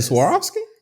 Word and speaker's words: Swarovski: The Swarovski?